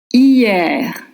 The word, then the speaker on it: hier: Don't pronounce the H. H are silent in French. Then ye, same as you or yes, and then R. In French, ER makes the same sound as R.